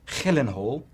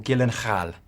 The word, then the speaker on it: Gyllenhaal: to bed once and for all is it pronounced helen hall yeah or gyllenhaal it's pronounced yeah it's very hard to spell